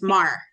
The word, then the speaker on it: Maher: Mar. No, I just looked it up. It's Mar.